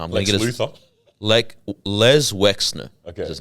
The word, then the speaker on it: Les Wexner: Les Wexner. Okay, I kept getting the name wrong.